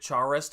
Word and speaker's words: Charest: It is French, and it should be pronounced pronounced Charest.